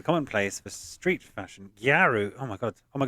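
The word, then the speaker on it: gyaru: which is a common place for Street fashion garu oh my God oh my God really garu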